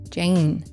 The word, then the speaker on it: Jane: And when we say the name Jane in English, we tend to pronounce it with this very slight Y sound just before the N, Jane.